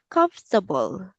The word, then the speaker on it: comfortable: Johnny, let's say comfortable. Comfortable. Yes, very good. So it is silent O and R. So that would be comfortable.